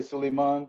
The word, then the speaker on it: Sulaiman: You can say Sulaiman, or you can just say Suli.